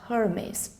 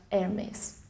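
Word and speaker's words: Hermès: To pronounce this label, just remember the H is silent, not Hermes, but Hermes.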